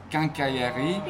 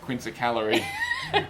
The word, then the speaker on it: quincaillerie: think it's pronounced Quincaillerie. Yeah. And Amanda said to me at the time, I never forgot it, that she's been calling it quince-a-calorie, Yeah.